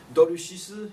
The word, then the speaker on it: dorushisu: Dorushisu is the Japanese pronunciation of dulcis, sublimatus dulcis, which one of the names is caramel, and karumera is another name for calomel.